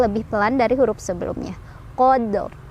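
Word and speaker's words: قدر: Qadr, karena ro-nya tebal, qadr. Tuh ya.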